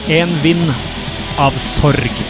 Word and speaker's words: En Vind Av Sorg: Pronunciation of this song in correct Norwegian would be En Vind Av Sorg.